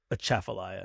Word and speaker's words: Atchafalaya: I think the T is more like, so I was putting the T in the first syllable, and the T is in the second syllable. I think is the first syllable. Chaff. So I was doing at cha, and the word is cha. Is that why it sounded so? Yeah, I think so. Aggressive. Yeah, Atchafalaya, not See, a while ago Atchafalaya.